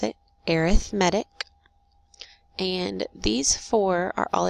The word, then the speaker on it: arithmetic: lesson is about arithmetic sequences that's how you pronounce it arithmetic and these four are all examples of arithmetic